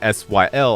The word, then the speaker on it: Syl: But when you say S-Y-L, I say Syl. But no, it's Syl. Like silver. English pronunciations is weird, people.